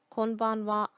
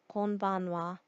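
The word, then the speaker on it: こんばんは: in another video but just know that the reason why the wall part of konichiwa and konbanwa looks like the hiragana ha is because it is a particle so that's all I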